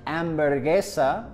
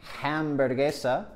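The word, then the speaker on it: hamburguesa: the H in Spanish we don't pronounce the h no matter where it is in the word for example hermana we don't pronounce hermana or ambergesa we don't pronounce hamburgesa so if you're practicing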